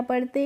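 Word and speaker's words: pea: पी ए नहीं पढ़ते हैं। क्योंकि फ्रेंड्स ई और ए जब एक साथ आते हैं तो इसका प्रोनाउंसिएशन इ करते हैं। यानी कि बड़ी ई की मात्रा से करते हैं।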